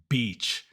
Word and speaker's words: beach: like the key is the difference between the I vowel and the E vowel in English and I know those are so similar for Spanish native speakers